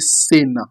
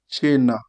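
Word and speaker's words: Cina: You will not pronounce it as an English people. Somebody will quickly see it. You not say sena. No, you are going to say what? China.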